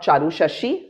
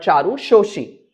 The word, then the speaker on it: Charu Shashi: Not Charu Shashi but Charu Shoshi. That is how in Bengali we pronounce their name as Motilal Babu.